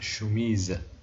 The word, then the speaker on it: chemise: إذن l'intrus il y a une chemise لأنها قلنا chemise ما نطقناش هاد اس نطق زد.